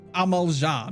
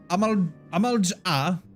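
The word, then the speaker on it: Amal'jaa: ] your apostrophe dude i'm gonna pronounce it amaljah because you know saying amal makes no sense but you know what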